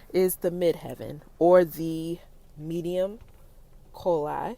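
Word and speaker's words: medium coeli: the midheaven or the medium coli i think that's how you pronounce it commonly referred to as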